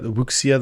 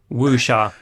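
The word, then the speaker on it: Wuxia: do they call it the woia the Chinese style Crouching Tiger Hidden Dragon there's some homages to that in there not not woa yeah right in Chinese not um oh yeah so I'm just pronouncing it like a western no no no I always said waia for years and then somebody in China was like what the are you talking about wish that makes more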